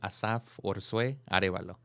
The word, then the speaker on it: Asaf Arevalo: What is your full complete name, and how do you pronounce it? Okay, so the way you say it, the full legal name is Asaf Arevalo.